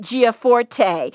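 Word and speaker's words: Gianforte: as well it's bootstrapping your business by greg giaforte his last name is spelled g-i-a-n-f-o-r-t-e start and grow a successful business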